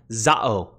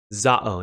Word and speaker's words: ζάω: Today we have zao. Zao. Now, depending on how you pronounce it and whatever, maybe it's zao.